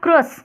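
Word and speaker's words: crus: वो होता है हमारा क्रस सी आर यू एस क्रस okay तो क्रूस भी बोल देते हैं क्रस भी बोल देते हैं तो यह चीजें है फिर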